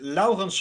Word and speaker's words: Laurens: I pronounce it Laurens. Like with the hard Dutch R, like Laurens.